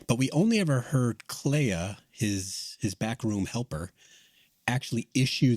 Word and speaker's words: Clea: I was wondering, do you think that was like a Clea, and it's interesting that Clea's name rhymes with Leia, that Clea was overreaching?